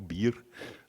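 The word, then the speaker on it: BIHR: On a l'équivalent belge qui, en abréviation, s'appelle BIR, mais comme une bière. Donc, c'est Belgian Integrated Healthcare Record. Oui, ça s'écrit un peu différemment, mais on le prononce donc BIR.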